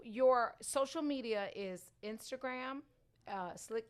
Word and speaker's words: Slique: For the people that don't know how you spell slick. Not slick. Yeah. Right, spell it. S-L-I-C-K. Right. SLIQUE, like French, but whatever that means.